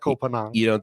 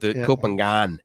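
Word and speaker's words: Ko Phangan: It's not Kopanang. Kopangan is where I'm going.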